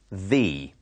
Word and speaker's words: the: person in a story we put the in front of the name and notice how it is pronounced thee listen is the gram